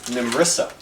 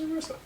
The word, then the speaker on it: Nimressa: the fort's name is Nimressa. Arissa? Nimressa. Nimrissa. like Nimrod. Nimerr. Nimr. Shit. That would be Nimressa.